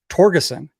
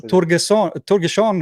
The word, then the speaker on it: Torgerson: Am I saying it correctly in English? Yes. Awesome, because I think it's Scandinavian. We might get into that. Yes, Torgerson or something like that would be probably closer in the back in the day how